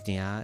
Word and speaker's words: nia: an outro probably because nia is a Japanese pronunciation. Yeah. Nia knee. I mean like the knee part is super easy. It's like your like knee or like need or something like that.